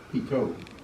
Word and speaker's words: pitot: Is it pitot static or pitot static? Pitot. Is it tomato or tomato? Yeah. But the second T is silent, because isn't it spelled pitot?